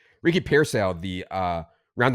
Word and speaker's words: Pearsall: Ricky, it's not Ricky Parasail. Okay? It's Ricky Pearsall.